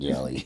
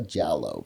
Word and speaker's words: Jallow: I knew it wasn't jelly, but I could not say it right either. So, Jallow. Jallow.